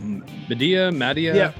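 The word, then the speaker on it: Madea: And he straight up looked like Medea. Is that how you say it? Medea?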